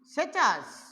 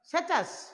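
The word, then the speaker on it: Tshechu: আগে একটা টি আছে, এটা অনেক সময় আমরা যেমন সুনামি বানানে দেখি যে আগে টি আছে, এরকম সেচাস বানানেও আগে কি আছে, টি আছে।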